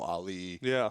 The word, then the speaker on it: Ali: to pronounce my name because some people would go ali uh marpit whatever there was 100 different variations and I was just like uh it's Ali but at this point I'm